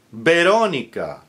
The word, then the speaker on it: Veronica: Victor, Victoria, Veronica. All with a B like boy, spelled with a V, but pronounced with a hard B as in boy because it's initial.